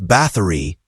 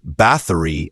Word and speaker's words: Báthory: Elizabeth Báthory, or Báthory, not Bathory as Hollywood likes to say.